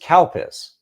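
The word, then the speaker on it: Calpis: i s and when you say it it's pronounced CPUs and you're like that's great can't help but say CPUs that's the name of the drink but in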